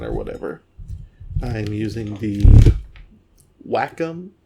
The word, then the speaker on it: Wacom: I'm using the Wacom. I think it's pronounced Wacom, but Wacom is more fun to say.